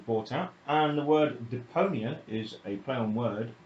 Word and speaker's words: Deponia: Deponia!